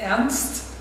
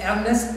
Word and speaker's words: Ernst: making fun because he was unable to say Ernst. He always said Ernest Bloch, and I was unable, of course, to pronounce any word at all in Armenian.